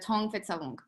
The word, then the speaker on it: Thong Phet Savong: And the family name is Thong Phet Savong.